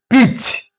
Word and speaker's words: pitch: Pitch. T is followed by CH. So T is silent here.